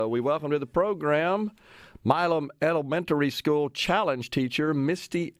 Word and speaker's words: Milam: Is it Milam or Milam? Just looking at the spelling Milam? here. Yes, it's Say it again. Milam. It's Milam.